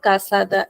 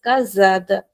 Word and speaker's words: casada: right okay uh this word is not kasada It is kazada.